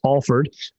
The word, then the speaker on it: Alford: Uh, it's A L F O R D uh for people at home, but it's pronounced Alford.